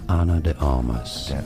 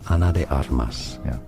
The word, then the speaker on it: Ana de Armas: Spanish for reference is said as Anna Anna English English Anna anally said Ana de armas from Spanish Ana de armas and now you know